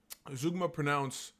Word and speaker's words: Zeugma: Most poems are like, okay, let's just go to Zeugma. Zeugma it's pronounced Zeugma, is a fun little device you don't see often in contemporary poetry.